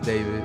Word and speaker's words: D4vd: Hello, my name is David, pronounced David, not D4vd.